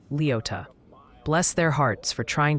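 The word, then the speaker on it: Leoti: Oh, and the Kansas delegation in chat is politely but firmly insisting Leote is pronounced Leota.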